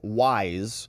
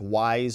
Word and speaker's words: Wise: One named Leo Wise, which is very closely phonetically related to Weiss, but it's not the same. It's Wise versus Weiss.